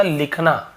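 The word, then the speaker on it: whole: फॉर द होल डे, फॉर यानी के लिए, द होल W साइलेंट होता है लेकिन लिखते जरूर है।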